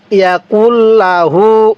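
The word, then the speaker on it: يَكُن لَهُ: এরপরে ওয়ালাম ইয়াকুল্লাহু ওয়ালাম ইয়াকুল্লাহু অনেকেই কে নুনের সাথে লাগিয়ে দেই না কাফকে এই লামের সাথে লাগাবো তাহলে ওয়ালাম ইয়াকুল্লাহু এই হা এর মধ্যে আবার এক আলিফ টান দিব আমার সাথে বলুন ওয়ালাম ইয়াকুল্লাহু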